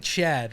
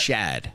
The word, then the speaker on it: Shad: And you're saying Chad, right? You're not- Shad.